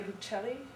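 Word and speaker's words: Buechley: that was developed by Leah Bocelli okay that's how you pronounce her name but it only has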